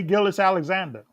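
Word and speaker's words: Gilgeous-Alexander: uh Shay is it Gil I can never pronounce his last name right Gil say Gillis Alexander yeah there you go that's it he has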